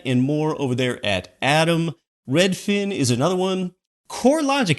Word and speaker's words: ATTOM: Atom Data Solutions, that can be worth an online visit. It's spelled ATTOM.